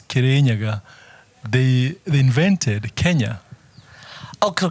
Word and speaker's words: Kirinyaga: The mountain that the country derived its name from is called Kirinyaga. Kirinyaga.